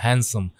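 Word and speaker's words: handsome: Sir Raven you आर अ हैंडसम bird. इसको बच्चों को आपको डी को साइलेंट रखना है, हैंडसम।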